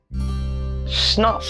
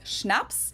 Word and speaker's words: Schnaps: Schnapps. Schnapps. Schnapps. This one I also mentioned in my video on alcohol Yeah, that was culture. In German, we spell it like this and say Schnaps.